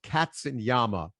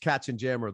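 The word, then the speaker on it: Katzenjammer: in a band called Cats and Yama, or like the Cats and Jammer kids. Yeah, they were pronounced Cats and Jammer.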